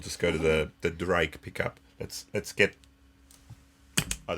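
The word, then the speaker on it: Ddraig: Mr Glenn's pickups the drag you got to pronounce it Drake it's Welsh for Dragon Drake not Drake Drake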